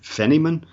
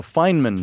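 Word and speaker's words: Feynman: Is it Richard Fenyman? Oh. Oh, Fineman. Fineman.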